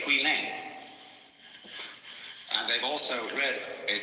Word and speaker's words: Huineng: You see, this guy, Huineng, most people say Huineng. And they've also read a text called the Sutra of W.E. and they say Wai Lang. But this is simply the Cantonese way of pronouncing the same characters, and this is the Mandarin way.